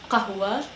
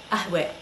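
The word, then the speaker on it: قهوة: So not qahwa, ahwe. So it's similar, but it's a little different, so it takes some getting used to.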